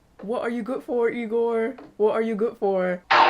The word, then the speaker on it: Igor: it isn't it's Frederick you must be eigor now it's pronounced igore but they told me it was eagor well they were wrong then weren't they my grandfather used